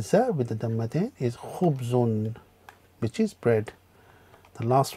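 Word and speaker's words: خبز: Next one is kha with the dhamma with khu, ba with the sukun is one, again Chris, one syllable, khub, and the za with the dhammatain is khubzun, which is bread.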